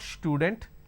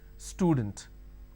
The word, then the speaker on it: student: make a mistake and they pronounce this with a sh. Student. It's not student, it is student.